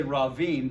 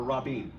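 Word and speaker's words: רבים: So this becomes rav-vim. You're just going to say ravim, but you got to know there's two baits there. Or rabim. Rab-beam. Rabim. It doubles.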